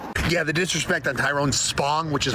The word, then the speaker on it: Tyrone Spong: Yeah, the disrespect on Tyrone Spong, which is how you say his name, is unreal.